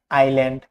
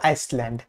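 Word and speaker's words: island: Silent S, silent S কিছু নির্দিষ্ট word বা মাঝে মাঝে এল ও ই এর আগে, যেমন আইল্যান্ড, নট আইসল্যান্ড, আইল, নট আইসল, আইসল, রাইট?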